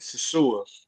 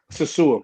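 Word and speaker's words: Sosúa: And Sasua is how you pronounce I don't know, what is that? Twitter? It's not my handle. A Twitter nickname. But, yeah, it's like Salsa something. No, Sasua.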